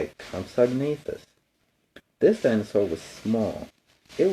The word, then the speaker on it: Compsognathus: This is how you say it, Compsognathus. This dinosaur was small. It was as big as a cat, but it could run fast. It could catch other animals and eat them. Its name is Compsognathus.